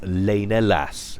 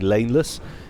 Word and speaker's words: Lena Lass: I've been saying Laneless, it's Lena Lass.